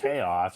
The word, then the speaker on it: chaos: but how about like this word chaos is it I was like thinking then it has a now it has a k pronunciation chaos or or chaotic yeah